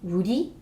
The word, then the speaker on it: 우리: So the first thing that I would like to share with you is the word for we, and it's pronounced 우리.